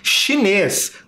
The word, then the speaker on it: chinês: Chinês também é uma palavra que tem um som característico de outra letra, né? Aqui no começo. CH, som de X nesta palavra.